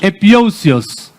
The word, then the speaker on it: epiousios: epiousios. Spell it.